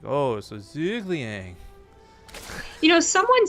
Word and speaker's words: Zhuge Liang: his name correctly was pretend you're saying zergling with a really stuffed up nose and you're feeling lazy and I'm like oh so Zhuge Liang you know someone said